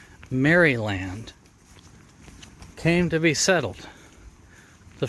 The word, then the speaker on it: Maryland: story of how Maryland which is properly pronounced marry land came to be settled